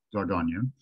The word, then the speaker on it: Dordogne: But that's how it's pronounced, Dordogne.